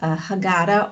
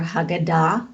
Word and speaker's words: Haggadah: know for your Seder there's a Hagaddah or Haggadah depending on you want to pronounce it and so during this